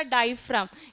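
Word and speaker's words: diaphragm: डायफ्राम। इसका spelling थोड़ा अलग है। डी आई ए पी एच आर ए जी एम हां जो जी है हां साइलेंट है।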